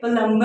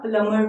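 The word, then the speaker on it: plumber: इसी तरह आपने ये बहुत कॉमन मिस्टेक है प्लम्बर, राइट, प्लम्बर नहीं होता, प्लमर होता है।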